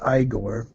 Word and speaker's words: Igor: I've heard it pronounced both ways. I wasn't sure how you're supposed to pronounce it, so I just went ahead and took my chances. Igor. Zygo. Okay, Igor. I don't give a fuck. Zygo is the way they say it in Germany.